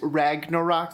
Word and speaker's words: Ragnarok: I want to recommend Thor Ragnarok, which, Ragnarok, that's how you say it.